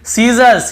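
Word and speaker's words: scissors: फिर देखिए सीजर्स, सीजर्स यानी कैंची को सीजर्स कहते हैं, यहाँ पर भी एस साइलेंट है।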